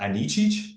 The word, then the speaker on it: Anicic: honored to have my guest on uh Mera anichi did I say that right yes did I pronounced it right okay um so Mera thank